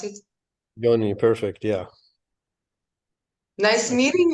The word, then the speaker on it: Yoni: It's Yoni how you pronounce it? Yoni, perfect.